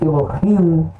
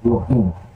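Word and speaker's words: אֱלֹהִים: colocado embaixo aqui então Lemos Elohim que não é Elohim Ok então já tá separando assim brexit para Elohim op uma pausa ali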